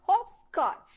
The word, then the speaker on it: hopscotch: Wow, this is hopscotch. Say all of you, hopscotch. Repeat after me. Hopscotch. Again I tell you, when you pronounce the word hop, your lip also should be in round position.